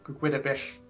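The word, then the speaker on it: Gwyddbwyll: Yeah, Gwydabich. Gudabil.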